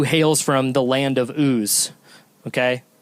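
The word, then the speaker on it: Uz: the Hebrew who hails from the land of ooze okay it's a weird word and for some reason those two letters are strange for us to say but it's a place called oo he was blameless and upright he feared God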